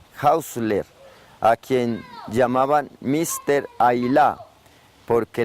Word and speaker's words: Hausler: Ailá, porque el apellido de origen sueco se pronunciaba así, Ailá.